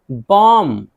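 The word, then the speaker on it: bomb: अब ये कॉम्ब बा नहीं है, बा यहाँ साइलेंट है, कॉम कॉम। कंघी, कंघी। बॉम, बॉम बमाना बम।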